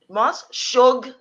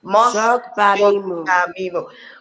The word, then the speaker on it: Mos-Shogbamimu: Now, Mos-Shogbamimu. Mos-Shogbamimu. 4 syllables. Shogbamimu. Mos-Shogbamimu.